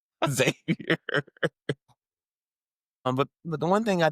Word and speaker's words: Xavier: I mean, they say my name wrong all the time. Javier? No. It's clearly, I'm black. Just Xavier.